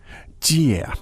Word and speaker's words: 借: 借 Jie, and that's fourth tone by the sounds of it. That's and true.